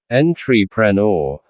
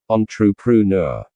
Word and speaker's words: entrepreneur: At first, I found it challenging because the pronunciation doesn't match the spelling, and it comes from French, which has a different sound system. I used to say it as entrepreneur, but after listening to